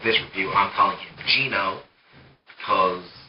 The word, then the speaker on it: Geno: also get genome or ghetto I've heard that pronounced both ways now on from the sake of this review I'm calling him Gino because it's g-e-n-o not yeah this house spelled